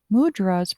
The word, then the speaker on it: mudra: Mudra is a Sanskrit word and is pronounced in Sanskrit by emphasizing the second syllable of ah.